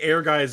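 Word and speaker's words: Ehrgeiz: it's Ergies. Air Guys? I think it's Air Guys. I think Air Guys is the correct the correct pronunciation.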